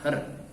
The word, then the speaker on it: her: Bacanya apa nak? Her ya, bukan hair tapi her.